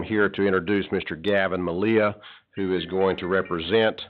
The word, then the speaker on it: Melia: Malia. Thank you. M-E-L-I-A. Thank you. Is that pronounced Amelia. Amelia? Like Amelia, but with no A at the start.